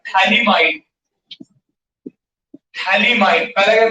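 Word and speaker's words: phthalimide: तो इसका नाम है थैलामाइड, थैलामाइड, PHTH, PH silent है, थैलामाइड।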